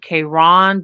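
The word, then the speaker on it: Caron: that brand is um Karen c a r o n some pronounce it Kon but I mean why not call it Karen but I actually like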